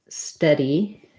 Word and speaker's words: steady: difference for the vowels study has the schwa central uh study steady has the f um which is our red tent vowel so and then stir